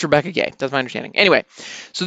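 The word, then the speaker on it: Rebecca Guay: you may think that now the name is pronounced Rebecca Quay which I did for many many years because it's GU a y but I've been recently corrected it is Rebecca gay as I understand it so unless somebody unless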